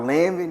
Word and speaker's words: Lanvin: Right now, I can say I'm not into designer shoes like that, but these shoes called Lanvin, it's like a big skateboard.